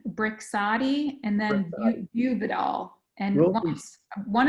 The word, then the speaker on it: Brixadi: Do you happen to know whether the cost of Brixani, how do you pronounce that, Michele? So it's Brixadi and then Buvidal.